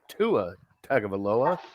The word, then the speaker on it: Tua Tagovailoa: And then you got Derek Carr, Jared Goff, Russell Wilson, Tua Tagovailoa. Did I pronounce that right?